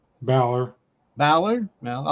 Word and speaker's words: Balor: Is it Baylor? Balor.